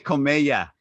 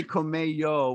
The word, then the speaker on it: Comella: We have, oh my gosh, I always pronounce her name wrong, which is really bad, but I'm going to see if I get it right now. Marisa Comella. Yes, I didn't say Comello, which I said last time, Marisa, which I really apologize about.